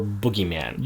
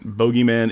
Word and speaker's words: bogeyman: discussion about that and we're deciding it's boogeyman yeah it makes more sense to me I mean bogeyman yeah it's spelt bo g ey that's how you know Carmody is spelling it so it could be bogeyman you know the classic